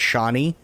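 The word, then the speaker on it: Chani: I think it's actually I think it's supposed to be pronounced Cheney, but I know a lot of people pronounce it Shawnee.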